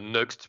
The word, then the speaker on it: Nuxt: parler aujourd'hui de alors comment tu prononces next NX NXT euh next plutôt ouais allez je prends je